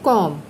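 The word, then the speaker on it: calm: कॉम, हम क्या बोलते हैं, कॉम। तो इसमें क्या साइलेंट है, बी।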